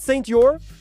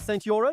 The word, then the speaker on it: Saint-Yorre: We also tested Saint-Yorre. Is that how you say it, Saint-Yorre?